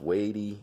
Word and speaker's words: WEIDE: looks like it's felled wide but it's actually pronounced weighty it has a Japan movement it's a 50